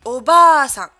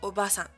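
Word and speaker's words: おばあさん: Oka-san, et non pas Oka-san, hein. Oka-san, Oka-san, et Oba-san, et non Oba-san. Oba-san.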